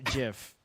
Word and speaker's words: GIF: is in that uh it's pronounced jiff oh wow yeah yeah